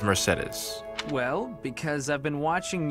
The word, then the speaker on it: Mercedes: See, and I noticed Sylvain said Mercedes. I guess you got different ways to pronounce it. And I'm pretty sure Mercedes explained it to Cyril. It is Mercedes.